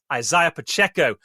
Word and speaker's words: Isaiah Pacheco: And you've got the likes of Isaiah Pacheco, I'll say his name properly, Isaiah Pacheco lining up in the Chiefs' backfield.